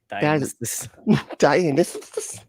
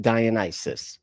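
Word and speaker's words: Dionysus: Who pronounces it that way? Dianis. Okay. Like come on. This like humans that aren't puppets pronounce it Dionis.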